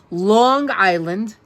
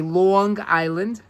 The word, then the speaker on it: Long Island: Long Island. Notice I say Long Island, because that's the way we New Yorkers say it. Long Island. We connect the G to the word island.